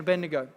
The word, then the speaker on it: Abednego: You've heard the story of Daniel, Shadrach, Meshach, and good pronunciation, son. Yes. Bonus points for you. Shadrach, Meshach, and Abednego.